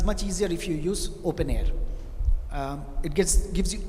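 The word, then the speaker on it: openEHR: model the open air open EHR that's how you pronounce it open air and you have got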